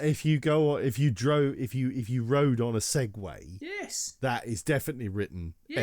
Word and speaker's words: Segway: If you're referring to an American company that produces motorized transportation devices, then you're referring to Segway.